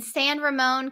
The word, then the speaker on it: San Ramon: such a cool spot and uh it's in San Ramone California am I pronouncing that right yeah you're pronouncing it right